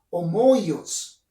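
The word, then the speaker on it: ὅμοιος: En este caso, la palabra que hemos subrayado y hemos resaltado de color rojo, semejantes, viene de una palabra griega que se pronuncia como homoios.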